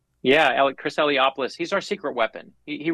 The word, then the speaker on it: Eliopoulos: grandkids and nieces nephews your illustrator is it pronounced iliopoulos yeah Chris eliopoulos he's our secret weapon he really is I